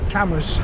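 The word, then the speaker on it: Cambois: out where this is this is called cameras cameras beach it's another one of those northumberland place names that is spelt differently to how it sounds i mean a lot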